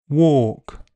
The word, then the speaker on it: walk: Elf selves health Welsh help bulb bolt sold milk belch bulge kiln film and L is silent in some words calm palm Arm salmon half chalk talk walk folk yoke would could kernel.